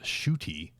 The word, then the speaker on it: Ncuti: so it's spelled n-c-u-t-i but apparently that is pronounced shooty uh shooty got one uh he'll be replacing uh jodie